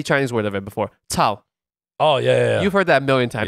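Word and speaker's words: 操: And in Chinese, Shiba, it's Tao. Tao. Tao. That was good? C-A-O. Tao. C-A-O? Tao. Not Cao. Not Cao. Tao.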